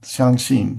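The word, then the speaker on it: 相信: And then the Chinese word was shangxi. Is that how you say it? Xiangxin, yeah. Shangxin. Xiangxin, yeah.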